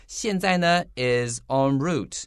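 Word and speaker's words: en route: one or the other this is a french pronunciation though so anthony would you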